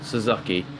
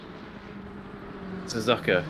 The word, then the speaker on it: Suzuka: some track in Asia oh wow gets the name wrong as well Suzuki Suzuka yeah right oh my god oh he gets